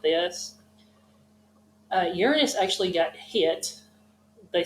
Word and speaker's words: Uranus: and chunks of rock around it now I pronounced it Uranus some of you may say Uranus but it's Uranus Uranus is actually if you remember us said